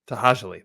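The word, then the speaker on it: To'hajiilee: Tahajali. That's how you say it. Tahajali. At least that's how Walt says it. That's what I'm going with.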